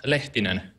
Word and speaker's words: Lehtinen: me how you say it so it's yonas letin very good very good which is something I'll